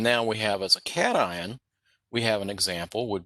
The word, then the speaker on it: cation: I call it a cation, but it's pronounced cation and anion.